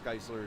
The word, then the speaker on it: Geisler: i said that he he said that you say his name like it's chrysler right nice yes but it's about the fact that travis geisler is a i believe